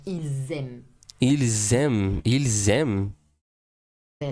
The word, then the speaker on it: ils: would pronounce the final S if the verb that follows starts with a vowel, like ils aiment.